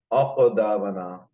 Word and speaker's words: أقدامنا: Aqdamana. Qaf is one of those 5 letters of qalqala. So that's why we pronounce it with a jerk.